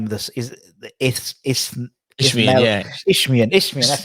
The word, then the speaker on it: Isthmian: Isthmian. That's Isthmian. Just forget there's like a T and H, and they just say Isthmian.